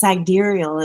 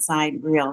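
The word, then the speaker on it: sidereal: So some people say cyereal because that's how it's spelled. And some people say cidurial. It's cidurial. It's not side real, but it's cidurial.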